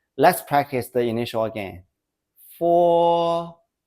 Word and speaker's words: fo: After 4, it's pronounced as 4, putting a quick u before o. But we write 4.